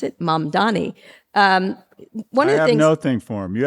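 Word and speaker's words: Mamdani: You've got a thing from now, how do we pronounce it? Mam Dani.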